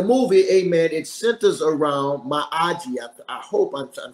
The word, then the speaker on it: Miyagi: Pat Mirares, he starred as Miyagi, I believe it's the way that Chinese name is pronounced, Miyagi.